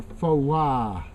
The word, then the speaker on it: Phowa: And if you say the names Buddha or Phowa, which is the right way to say it, then you see the chin, the jaw going up and down.